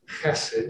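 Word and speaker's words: חסד: that the meaning of the hebrew word is pronounced acid you got it it's got to start in the back of your throat is loving kindness what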